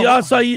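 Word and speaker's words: açaí: Well, the acai, I said acai because I never said it before.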